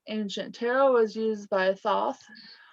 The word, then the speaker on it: Thoth: tarot was used by thoth t-h-o-t-h toast so everyone pronounce it um egyptian energies like